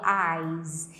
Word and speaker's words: eyes: É como se tivesse um som de Z aqui, ó, eyes.